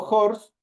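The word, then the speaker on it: horse: J Entonces como digo jors ahí utilizo eh la H tiene un sonido de consonante entonces ahí utilizo la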